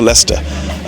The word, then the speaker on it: Leicester: the kids up to Leicester at some point here. That's how the locals say it. There's more of a ta at the end.